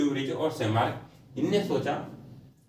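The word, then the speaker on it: Tschermak: तीसरा जो वैज्ञानिक था वो था सेमार्क। टी साइलेंट है।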